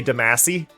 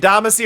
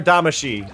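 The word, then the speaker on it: Damacy: give me this game is people that say Damasi. Like they're saying Damascus, it's like no, you get Damasy or Damashi, but you don't you don't get you don't get uh Damasi.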